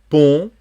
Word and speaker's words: pont: Sous le pont, on ne prononce pas le T, Mirabeau.